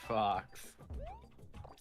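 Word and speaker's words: faux: not spelled like Fox it's spelled like f a u x which is pronounced Fox yes because French people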